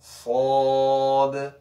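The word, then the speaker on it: صاد: രണ്ടാമത്തെ നാലാമത്തെ അക്ഷരം സാദ്. എന്റെ ചെറിയുടെ മുൻഭാഗം നോക്കുക. സാദ് സാദ് സാദ്.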